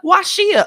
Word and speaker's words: Washia: Washia. Okay. It's it's pronounced the way it's spelled.